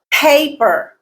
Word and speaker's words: paper: Paper, paper. Pay is the stressed syllable.